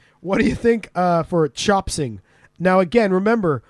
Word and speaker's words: chopsin: What do you think for chopsing? Now, again, remember, Welsh people love taking the G off the end, so it would be chopsin.